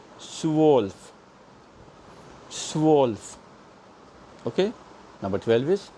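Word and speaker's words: zwölf: Everything together is pronounced as Swolf.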